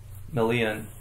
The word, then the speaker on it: Melian: so um melon yeah I don't know if there's an official pronunciation of her name stimes I would have called it meon malan but I think it's more like melon what do you think um I would probably say it melon yeah um I think